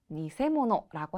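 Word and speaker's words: 偽物: 정답은 니세모노라고 합니다. 자, 기라고 읽으나 뒤에 모노가 왔을 때는 니세모노라고 있습니다. 메이가니 니세모노와 츠키모노다.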